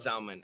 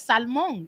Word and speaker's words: salmon: she still says it because in spanish it's salmon like the l is not silent in spanish so we say salmon